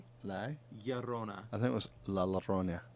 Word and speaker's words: La Llorona: It's La Llorona. La Riona. What's that? La Llorona. La Riona. La La. Llorona. I think it was La Llorona.